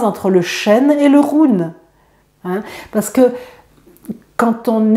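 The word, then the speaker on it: hun: l'appelle l'âme éterée et ça s'appelle le Run Run ça s'écrit Hu n ce run en fait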